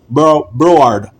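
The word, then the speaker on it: Broward: Bro Bard or Bard County, that's how they say it in Florida. Broad County.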